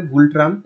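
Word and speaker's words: Ngultrum: গুল ট্রাম মনে রাখবে গুল ট্রাম্প একটা এম গুলট্রাম একটা এন যুক্ত করে দেবে তো গুলট্রাম হচ্ছে উচ্চারণ ঠিক আছে এন এর উচ্চারণ হয় না তো এইটা হচ্ছে ওদের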